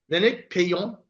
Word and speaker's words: Lénaïc Peillon: So we have Lénaïc Peillon.